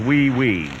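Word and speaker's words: oui: franois ooy ooe Miss wait a minute that's pronounced we we well why don't they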